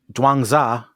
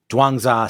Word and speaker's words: Zhuangzi: dumb fat american tongue so i looked it up dwanza seems to be how it is pronounced um we'll do our